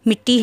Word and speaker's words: مٹی: غلط ہے، اصل لفظ مٹی ہے، میم کے نیچے کسرہ اور ٹے کے اوپر شدہ ہے، اس لیے اصل لفظ